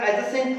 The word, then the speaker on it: adjacent: About 10-11-12 words हैं, ADJ से शुरू होना, सबका जो प्रोनाउंसिएशन है उसमें डी साइलेंट रहेगा। तो ये बोलती है कि husband was attending a telephone call in the adjacent room, यानी कि नेक्स्ट